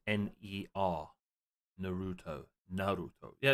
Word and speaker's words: Naruto: But I don't think it's Naruto. I think it's Naruto. Naruto. Naruto. Naruto. Yeah, it's a stronger emphasis on the A instead of making it sound like N-E-R. Naruto.